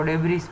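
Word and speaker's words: debris: बहुत सारे सैटेलाइट हैं, उनमें से काम नहीं करती है, उसको डेब्रिस बोलते हैं। डेब्री एस है वो साइलेंट है।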